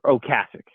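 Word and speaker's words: Ocasek: favorite Man Forever well Rick OAS or oasic is how it's pronounced he passed away he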